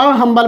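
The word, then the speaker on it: humble: Mister Sinha is dash हम्बल मैन, हम्बल है तो अ हम्बल मैन होगा क्योंकि एच से स्टार्ट हो रहा है और प्रोनाउंसिएशन भी एच है which is vowel, sorry consonant.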